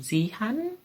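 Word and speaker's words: Xi'an: one of them did look quite nice um zee han x-i-a-n um also you can pronounce things because before then because that's going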